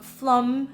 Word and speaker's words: Flåm: was without a doubt flum I think you pronounce it like this there we caught a